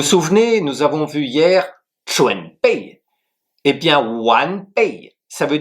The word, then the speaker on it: 全: Le deuxième caractère, c'est 全, Q-U-A-N, deuxième ton qui s'écrit de la manière suivante.